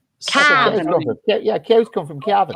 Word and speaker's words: Cavan: We don't say Cavan. We say Cavan. Like what cattle do. Cavan.